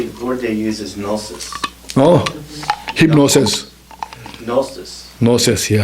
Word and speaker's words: gnosis: Gnosis?